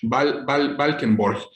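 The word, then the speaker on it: Valckenborch: V-A-L-C-K-E-N, B de burro, O-R-C-H, Valkenborg. Seguramente lo estoy pronunciando mal, pero bueno, él es un pintor flamenco de Lovaina y tiene una que se llama El Invierno.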